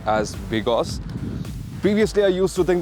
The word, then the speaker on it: BGauss: and how to pronounce ouncer so it is pronounced as Bigos previously I used to think that it is pronounced like bgos but Bigos it is and it is another brand Under